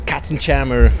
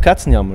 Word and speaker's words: Katzenjammer: I'm sorry I wanted I wanted to go for English pronunciation but it's always so confusing because because we always were like doing this cats and chmer and stuff like that yeah but you're calling yourself cats and Yammer right we say cat